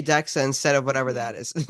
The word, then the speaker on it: DEXA: refer to as so you pronounce it as dexa and it's a scan